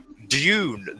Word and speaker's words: Dune: just say wrong I I'll pronounce it properly like I'm an English person Dune the battle for racus oh my God and